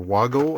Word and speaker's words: Wago: This is a whole package of Wago connectors, or Wago, I guess, if you were pronouncing things with a German accent.